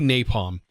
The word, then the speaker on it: napalm: to be napalm and yes i did pronounce it wrong in the last video if you made it through there all the way um i for some reason said nafta i don't know why i said nafta uh maybe because it's